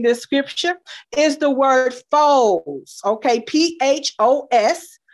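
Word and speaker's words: φῶς: Then the third Greek word for light that's represented in this scripture is the word phos. Okay. P-H-O-S. But it's pronounced foes.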